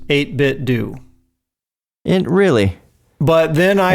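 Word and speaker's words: 8BitDo: emailed them once and I was told it's pronounced 8bit do and really but then I had and I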